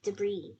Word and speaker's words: debris: debris debris d e the S is silent you don't say the S debris yep good um can you read the sentence there with debris there are over 25,000